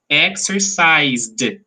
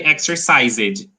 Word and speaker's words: exercised: weak exercised exercise yes some people say exercises no exercises it's not this exercised okay okay the